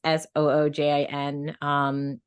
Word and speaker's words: Sujin: My Korean name is just Sujin, which is phonetically readable, like it's just Soojin.